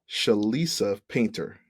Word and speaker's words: Chelisa Painter: Jersey um today we are joined by by shalisa painter that's how it pronounce right yes perfect um she is an